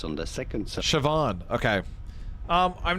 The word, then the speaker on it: Siobhan: You do want to stress on the second syllable. The van syllable Siobhan.